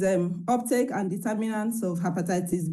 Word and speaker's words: hepatitis: So why are you pronouncing hepatitis B as heitis B? It's hepatitis B, not hepatitis.